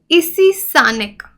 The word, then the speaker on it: Issi saaneq: देखिए, ईसीसानिक, that's how वी can pronounce it, new dinosaur species.